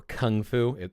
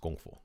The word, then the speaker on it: Gong Fu: But he is associated with the changes that the Shaolin Temple did to start studying their Gong Fu, which Gong Fu or Kung Fu, it's pronounced Gong Fu.